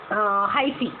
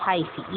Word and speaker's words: hyphae: ये कहलाते हैं आपके लिए हाइफी, HY, वापस से लिखते हैं इसकी स्पेलिंग को, HYPHAE, हाइफी, ये थ्रेड लाइक स्ट्रक्चर।